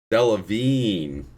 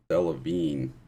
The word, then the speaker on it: Delevingne: offended by that though because it always happens Delevingne is how you pronounce it Delevingne a Devlin um probably I don't [ __